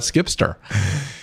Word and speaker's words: Zkipster: Z like a zebra. Z KIPSTER. So it sounds like zkipster, even though it's Zkipster.